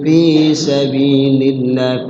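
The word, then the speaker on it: سَبِيلِ اللهِ: Lafaz Allah dibaca tarqiq tipis. Maksudnya sabilillah. Ya, terkadang ada orang baru belajar Quran, ini bacanya kegok nih. Ya, dibaca tebal sabilillah. Itu sering gitu ya. Baru belajar dibaca sabilillah. Padahal dibaca tipis.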